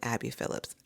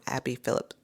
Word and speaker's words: Abby Phillip: And I'm saying it wrong. Abby Phillips. Um I always want to add it esto, but Abby Phillip is a journalist on CNN.